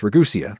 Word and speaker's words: Ragusea: and even longer before they'd learned how to pronounce it. It's Ragusea, by the way.